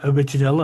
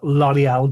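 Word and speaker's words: L'Orignal: So, this is called Lial or I always say it wrong and say original and everybody always tells me off, but it's pronounced L'Oreal Jail.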